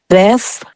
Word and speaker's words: depth: You have to pronounce the P and then the TH.